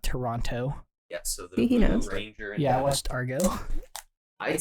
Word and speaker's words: Toronto: is Canadian that's why she pronounces it Toronto not Toronto yes Argo I'd say